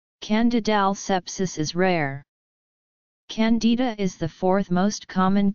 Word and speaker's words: Candida: candidiasis in American English Candida is also pronounced differently in American English the stress is on the eye whereas in British English the stress is on the first syllable the genus Candida and